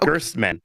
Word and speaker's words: Gerstman: You were saying Gertz, not Gerst. Gertz, not Gerst. I'm still hearing it. Oh my God. Oh my God. Okay. You were saying his name rhymes with Squirtsman. Yeah. And what rhymes with Gerst? The worstman. Worstman. Instead of Squirtsman. Rhyme. Squirt and worst don't rhyme.